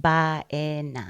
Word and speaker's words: Baena: you it is b-a-e-n-a and it's pronounced by a yeah that's awesome so